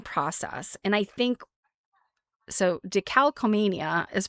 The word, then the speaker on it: decalcomania: And I think so decalcomia is pronounced d e c a l c o m a n i a.